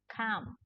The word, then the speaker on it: come: learn is the word come. Come. Now, this word you do not have to pronounce the sound L. This is silent L, so you don't say calm. No, but this is come.